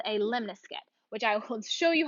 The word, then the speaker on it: lemniscate: our graph of the lemniscate and here is how you pronounce this this is lem n I s CA te lemniscate and this has a